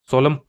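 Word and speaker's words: solemn: सोलम सोलम का अर्थ एक्चुअली इसमें एन साइलेंट है। सोलम ही बोलता है।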